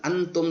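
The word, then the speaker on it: أنتم: Hukum bacaannya ikhfa, dibaca samar-samar antara jelas dan dengung. Asal bacanya antum karena nun sukun bertemu dengan ta yang ini, maka harus nun sukunnya harus dibaca samar atau ikhfa. Caranya bagaimana? Antum. Bukan antum lagi tapi antum. Itu hukumnya ikhfa.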